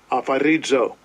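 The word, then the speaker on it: ἀφορίζω: Afarizo. Right, so that's how you pronounce it.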